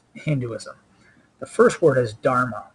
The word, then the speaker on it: dharma: The first word is dharma. It rhymes with karma, and it has to do with karma.